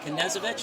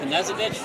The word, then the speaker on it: Knezovich: Is it Knezovich or Knezovich? You pronounce the K. You do pronounce or don't pronounce? You do. Okay. You do. Yep. So you eat with a knife, but your last name is That's right. How I'll remember it. Like Evel Knievel.